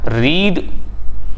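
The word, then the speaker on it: read: हैं सो I have रीड का third form होता है रेड स्पेलिंग बिल्कुल सेम होती है आर ई ए डी बट इसको रेड पढ़ते हैं सो आई हैव रेड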